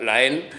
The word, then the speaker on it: La Haine: popularmente la gente dice la haine hola jaime pero bueno es una viene de una palabra francesa que se pronuncia la en que significa el odio